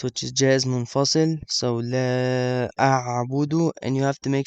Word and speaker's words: لا أعبد: Make sure you pronounce that. The articulation point is from the middle of your throat.